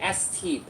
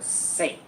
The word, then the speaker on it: St.: So the ST part uh it's actually short for saint.